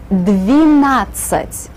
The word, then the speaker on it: Двенадцать: Двенадцать. With the E sound in the first syllable.